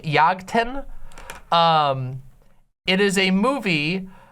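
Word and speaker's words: Jagten: this right but yagten yag 10 I think is how it's pronounced uh spelled with a J yagtan um it is a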